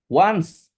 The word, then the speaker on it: once: Once. Ya, I have been in Europe once. Ini dibacanya once. Ya. Once. Ya, bukan once. Ya. Kalau once itu vokalis Dewa 19.